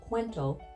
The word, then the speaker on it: Kuwento: it's fairly elegant and fun Kento is actually pronounced quento and it simply means story in Filipino and